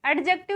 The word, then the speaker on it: adjective: क्या है, ये प्रॉपर एडजेक्टिव है। ओके, और ये एडजेक्टिव मत बोला करो, कई लोग इनको एडजेक्टिव बोलते हैं, एडजेक्टिव नहीं होता, डी साइलेंट होगा, एडजेक्टिव हमें बोलना है।